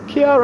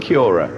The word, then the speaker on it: Chiara: Chiara, I was saying Chiora.